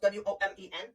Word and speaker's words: women: Okay, then take woman, add another woman, and now you have plural females, and they are pronounced W-O-M-E-N.